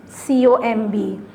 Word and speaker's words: comb: you pronounce the word COMB? COMB. Com? How? Comb. The word is comb. ठीक है. B नहीं आपने वो करना. B is silent.